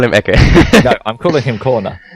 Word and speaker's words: Ecke: About this, sorry about interrupting you, but on the on Rize Gaming, the Sand King, it's actually German. It means corner, and it's pronounced Ecke.